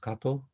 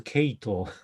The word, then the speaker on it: Kato: people call me just kato the british people do not call me kato because they pronounce it they can only pronounce it as a cato but what's the name